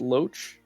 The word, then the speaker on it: loach: Hylian, how do you pronounce that? Is it loach?